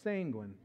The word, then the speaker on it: sanguine: The first one, I'll probably mispronounce this, but I think it's sanguine. Did I say that right? It's like a penguin, only it's sanguine.